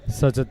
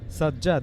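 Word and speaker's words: Sajjad: around the ground sajad versus sajad the little bit difference there sajad the better s a j j a d and the bowler sad s a z z a d but the pronunciation that might be the same sure same yeah should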